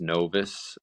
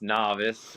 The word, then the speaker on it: Novus: or New Beginnings which being a Latin word it should be pronounced Novis and uh we just I guess couldn't read so we um we pronounced novice and uh yeah it